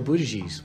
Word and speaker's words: Buttigieg: Joe Buttigieg was the guy promoting. That's how you say it. That's how I say it. Well, that's not how I, among friends, I say it even differently than that.